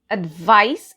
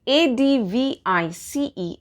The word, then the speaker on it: advice: the meanings first well a d v i c e advice it rhymes with ice i see ice so